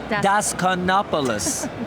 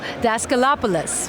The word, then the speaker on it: Daskalopoulos: I'm here with Daskalopoulos. Did I say it right? No, Daskalopoulos. Daskalopoulos, the Galapagos.